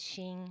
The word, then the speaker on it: Xing: everyone my name is shin and Xing pronounced like a pulling a sword um so I'm an